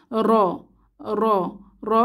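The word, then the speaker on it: ر: র ফাতহা র র এই হরফটির একটি বৈশিষ্ট্য বা সিফাত হলো এই হরফটি মাখরাজ থেকে উচ্চারণের সময় একটু কম্পনের সৃষ্টি হয় যেমন জিহবার আগারতে একটু কম্পনের সৃষ্টি হয় যাকে তাকরার বলে র র র মোটা করে বলতে হয় র টা বিশেষ অবস্থা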